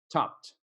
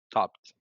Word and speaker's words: topped: there okay right but we pronounce it like topped with a T topped topped all right yeah do